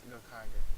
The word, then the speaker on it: Gokaiger: In the line, if you ever see Gokaiger online, which I think I'm pronouncing it a little long. Yeah, it's Gokaiger.